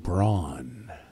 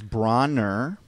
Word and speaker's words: Bronner: I'm going to go Braun. I'm actually going Braun, too. All right, it's Bronner, Okay, sorry.